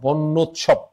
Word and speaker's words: বন্যোৎসব: যা আছে তাই উৎসব, বন্যোৎসব। এই বানানটা কিন্তু বিখ্যাত আরেকটা কারণে, মাথায় রেখো, আরেকটা কারণে বানানটা বিখ্যাত। সেই কারণটা হলো এখানে কিন্তু জফলার কোনো উচ্চারণ নেই।